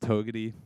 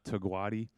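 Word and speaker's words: Togwotee: this were together pass apparently that's pronounced togety not togwadi um yeah together was interesting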